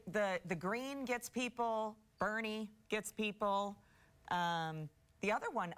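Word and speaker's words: Boerne: I'm gonna say burn I'm gonna say that o is silent on this one burn Barney weekend at Bernie's Bernie Bernie I knew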